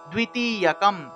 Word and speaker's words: দ্বিতীয়কম: এখানে দেখুন দয়ের নিচে বফলা থাকায় দুয়া উচ্চারণ হয়, ঠিক আছে, সেজন্য দুই উচ্চারণ হবে, দুই, দ্বিতীয়কম।